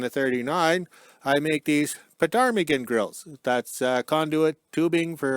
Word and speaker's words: ptarmigan: So we've always called them the ptarmigan grills. And the P is silent or whatever when you say the word.